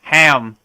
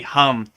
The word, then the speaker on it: ham: of protect this like when you read it you would say like ham but it's really hum right so in in